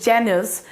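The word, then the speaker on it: Janus: इसका pronunciation is जेनस।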